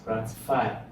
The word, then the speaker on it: ratify: This is three syllable word ratify but the first but the stress is on the first syllable.